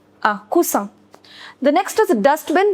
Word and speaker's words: coussin: Now, if you want to say cushion, then you write double S and you pronounce it as S and not Z. It is un coussin. Un coussin.